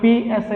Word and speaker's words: psi: So psi is pronounced as a psi, it is a wave function.